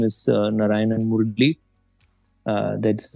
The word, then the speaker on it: Narayanan: available on LinkedIn uh my full name is Naran Mur uh that's m r a l i